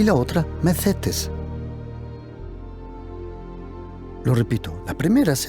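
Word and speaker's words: μαθητής: ceteo y la otra macetes lo repito la primera se llama maceo se escribe con TH pero la th en griego se pronuncia como más la segunda palabra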